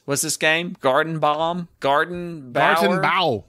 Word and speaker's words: Gartenbau: for sending us what's this game Garden Bomb Garden bow spell it gartenbao g-a-r-t t come here yes g-a-r-t-e-n-b-a-u